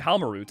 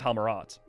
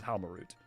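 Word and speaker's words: Halmarut: I mean, she does say her name Helmarut instead of Helmarat. I've been saying Helmerat for years, but I but they the way what the pronunciation they went with is Helmarut.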